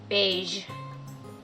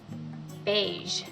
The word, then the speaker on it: beige: ge letter combination not always but often is pronounced as ja as in the word beige or massage beige massage so for method one you're going to